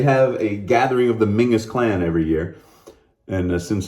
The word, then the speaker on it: Menzies: to the Mingus clan, or Menzies as it's spelled. Mingus, they pronounce it there.